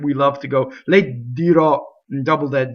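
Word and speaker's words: dirò: Okay, dirɔ. Okay, dirɔ, the future tense ends with the stressed O on the last syllable.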